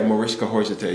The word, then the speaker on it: Mariska Hargitay: for me Oh No Mariska Hargitay is the lead of Lord yeah something I never knew how to pronounce your name yeah Mariska Hargitay yeah that's how you pronounce it it was very complicated